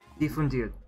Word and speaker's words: difundir: Difundir. Okay. I gotta practice basically cutting off my pronunciation of the R at the end there.